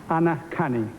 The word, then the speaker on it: Anacani: Ladies and gentlemen, Anacani. Did I pronounce that right?